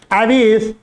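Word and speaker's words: Aves: तो यही लाइन लिखनी है, क्वेश्चन पूछा गया है, the development of एविस from reptiles. एविस बोलो, कुछ लोग एव्स भी बोलते हैं, प्रोनाउंसिएशन है भाई, हम लोग हिंदी मीडियम वाले रहे तो ऐसे ही बोलते हैं हम लोग को।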